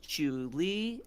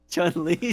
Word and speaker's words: Chun-Li: Okay, we got Lara Croft, we got Princess Peach, Chu-Li, Alex from Don't even have to say her name. It's Chun-Li, sorry.